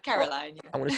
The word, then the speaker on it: Caroline: And am I saying Carolyn or Caroline? Caroline. Caroline. You can say what you want, but Caroline.